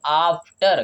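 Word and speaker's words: after: साथ आप बोले तो क्या हम आफ्टर बोलेंगे, नहीं, हम इसको आफ्टर नहीं बोलेंगे, हम इसको क्या बोलेंगे, आफ्टर। क्या बोलेंगे, आफ्टर बोलेंगे तो यहाँ पे देखिए ए का उच्चारण क्या हुआ, आ में हुआ, क्या हुआ, बड़ा आ में हो रहा है, सिंगल ए लिखा है लेकिन उच्चारण बड़ा आ में हो रहा है, आफ्टर।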